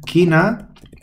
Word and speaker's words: china: es se pronuncia chi Pero si pones la c y la H se pronuncia aquí o sea esto sería quina y esto sería China